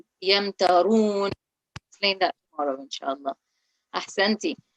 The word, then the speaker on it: يمترون: So that Ra would be read in a heavy way because there is a rule, Yamtarun.